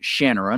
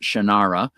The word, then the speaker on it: Shannara: He pronounces it Shannana, not Shannara.